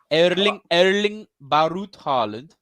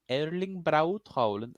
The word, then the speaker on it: Erling Braut Haaland: Erling Barut Haaland. Barut? Erling. How do you say that AE thing? Erling Braut Haaland.